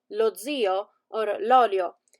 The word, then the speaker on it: zio: We have words like lo zio or l'olio. In the first one, the accent is on the end, so lo zio, but l'olio has the accent at the beginning.